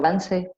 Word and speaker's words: Vance: Mi apellido yo lo pronuncio Vance, pero mi hermana lo pronuncia Vance, así que en realidad no nos importa.